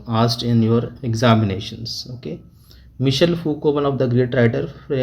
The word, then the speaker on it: Michel Foucault: Okay, Michel Foucault, Jacques Lacan, Julia Kristeva, and Roland Barthes.